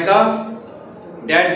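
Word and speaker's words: could: का कुड कुड नहीं कुड L silent है यस सर नेस्ट का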